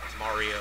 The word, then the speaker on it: Mario: But it's supposed to be said Mario, even if you are Italian. I'm not an expert on Italian, but I can pretty much say that Mario is the correct way to pronounce that name.